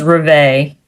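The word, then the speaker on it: Revé: So apparently, John Walsh, the father, had called, her name was Reve. I think that's how you pronounce it because the accent's on the second E.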